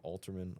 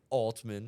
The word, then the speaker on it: Altman: He did a He did a I don't think there's like a eer in there. Oh, whatever. Something, right? How do you say it? I think just Alman Alman, I think so. Sam Alman, like control alt control alt delete.